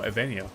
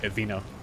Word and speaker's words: Evenia: Oh, Evenia. Okay, that's how you say it. I think I said like Evina.